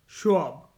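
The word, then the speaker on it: Schwab: था क्लॉज़ के एल ए यू S Claus शोब Claus शोब शोब की spelling S सी एच डब्ल्यू एबी शोब कब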